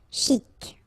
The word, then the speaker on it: chic: Okay, you pronounce the final C and then CH together. Sh. Chic.